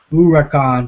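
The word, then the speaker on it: Huracán: events it or more Huracan is pronounced uran by the way yeah I know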